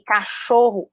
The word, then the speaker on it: cachorro: Que eu sei que cachorro é cachorro por causa da sílaba tônica? Cachorro.